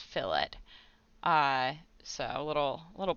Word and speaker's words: fillet: that it is pronounced fillets whereas if you're talking about like a piece of meat it would be a fillet um but for whatever reason we pronounce this fill it uh so a little